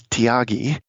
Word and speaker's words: Thiagi: His name is Tyagi. That's spelled Thiagi.